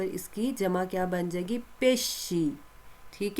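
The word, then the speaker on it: pesce: जिसको क्या कहते हैं, पेशे। क्या कहते हैं, पेशे। एस सी को क्या पढ़ेंगे, श, पेशे।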